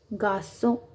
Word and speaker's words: garçon: So the pronunciation is sa, français, garçon, François, Françoise. Whenever this sedil comes, this sign known as sedil, whenever this sedil comes, so the sound of sk will become sa.